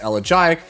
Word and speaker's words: Elegiac: Next we come to Elegiac Candle, and yes, it is pronounced Elegiac, no matter what others tell you on their videos or on their streams.